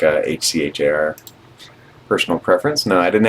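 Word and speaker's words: HCHAR: I heard people pronounce that. H car or H care. I like H C H A R.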